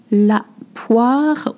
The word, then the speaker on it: poire: La poire, le wa, O-I, makes the sound wa.